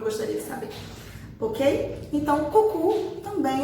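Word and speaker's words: coucou: Não vamos falar cou, pelo amor de Deus, tá? Já expliquei que O tem som de U, como se fosse o nosso U, né? Então, a pronúncia desse oi é cucu.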